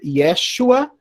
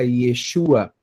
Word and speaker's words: Yeshua: Mas existem duas formas de pronunciar, né? Você tem a forma mais aramaica, que é Yeshua, e você tem a forma mais hebraica, Yeshua.